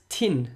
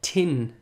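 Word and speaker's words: tinn: Gaelic lesson the word tin and that's spelled T I and and it means to be sick our sickness so the word tins clearly as starting with a CH sound so like chin like in the English chin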